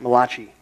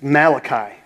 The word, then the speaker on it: Malachi: If you go, the last book in the Old Testament, it's the Italian book, only because you can pronounce it Malachi. But it's Malachi.